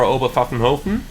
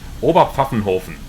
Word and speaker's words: Oberpfaffenhofen: So, that's the VATSIM ATIS right now for Oberpfaffenhofen. God, I'm pronouncing that in English. Oberpfaffenhofen.